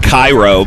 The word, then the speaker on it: Cairo: There's a Cairo, Illinois, which is spelled like Cairo, but they call it Cairo because they hate the East.